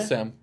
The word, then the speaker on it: Salm: Sam. Sam? Yes. Yeah, your last name's a first name. Well, there's a silent L in it. Where? Right around in the middle. S-A-L-M. Oh, like salmon.